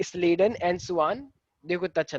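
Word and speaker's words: Schleiden: कुछ लोग इनको बोलते हैं स्केलेडन एंड साकवान, ठीक है, लेकिन एक्चुअली जो प्रॉपर प्रोनाउंसिएशन है वो है स्लीडन एंड सुआन।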